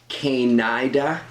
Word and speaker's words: Canida: It's funny, I'm sure it's supposed to be pronounced Canida, but reading it a couple of times, I had a few times in my head where I read it as Canida, because it's spelt C-A-N-I-D-A, and then C-A-N-I-D-A-N-S, Canidans. I'm assuming it's Canidans, but it was so close to kind of Canada and Canadians that I kept misreading